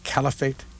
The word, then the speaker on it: caliphate: because they had their own authentic revelations you pronounce it caliphate the caliphate yes what is that well uh